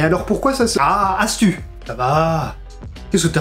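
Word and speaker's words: ἄστυ: Oui, ça se prononce Astu, mais ça s'écrit avec un Y. Oui, le Y en grec ancien se prononce U. Mais alors pourquoi ça se... Ah, Astu!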